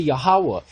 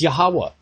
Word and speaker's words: Yahawah: need to turn to yahawah and I'm sorry if no one likes that pronunciation of the name or whatever everyone's going to have to get over it it's yahawah I don't know what